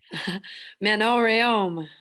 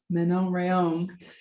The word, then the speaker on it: Manon Rhéaume: I'm going to ask you to pronounce her name because I know I'm going to butcher it. Manon Rhéaume. Manon Rhéaume.